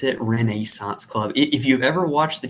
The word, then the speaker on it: Renaissance Club: reneissance club before we continue yes I did pronounce it Renaissance Club if you've ever watched the TV show How